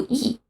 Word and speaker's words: 一: 的时候，一从原来的一声变成四声，读一。